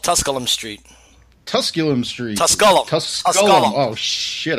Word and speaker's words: Tusculum: Tusculum Street.